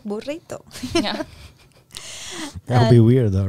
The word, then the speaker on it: burrito: Spanish language comes up, I try to pronounce it as much as I can in the Spanish accent, right? Mm-hmm. For example, I don't say burrito, I say burrito.